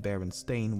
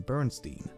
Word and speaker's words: Berenstain: know what they were secondly in their autobiography one of the creators of the berenstain bears mentioned how an elementary teacher did not believe baron stain was a real surname and instead called him bernstein thirdly the son of